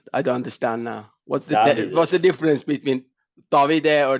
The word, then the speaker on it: Davide: What's Davide. the difference between Davide or Davide? Because you put the accent on the E, but the accent is on the I.